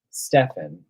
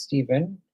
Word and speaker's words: Stephen: nine, just using Gamsol, she called me um Stefan, and she was she did scare me a little bit, so I never corrected her. My name is Steven.